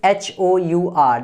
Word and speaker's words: hour: Next is HOUR.